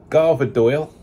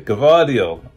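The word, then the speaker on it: Gvardiol: I heard today is if um go the garva doyle Governor Doyle sorry give audio yeah again I butchered that name the other day cavadio why'd I keep getting these names wrong it's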